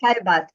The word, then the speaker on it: Caillebotte: Cezanne, Monet, Manet, Gauguin, Van Gogh, Renoir, Pissarro, Caillebotte. Did I pronounce that correctly? Yeah, Caillebotte, Caillebotte.